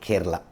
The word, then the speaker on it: Chera: That Chera kingdom is the present day Kerala. So, all were Tamil kingdom. Now, this Chera, if you see Chera, that Chera can also be pronounced as Kera.